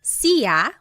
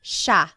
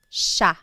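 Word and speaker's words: siya: look at the spelling it looks like it should be pronounced CIA but it's actually pronounced Sha Sha there are some regions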